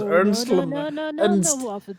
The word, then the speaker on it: Ernst: if they know where earnest might be okay away you guys go earnest uh he pronounced his name ernst and that's the way it's pronounced because that's what he